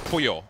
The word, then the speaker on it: Pollo: So is this Polo or Pollo? Pollo. Pollo. Because chicken in Spanish.